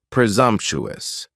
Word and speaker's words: presumptuous: task next is presumptuous presumptuous has four syllables and the stress is on that second syllable and the S almost sounds a little more like a zed presumptuous if somebody is being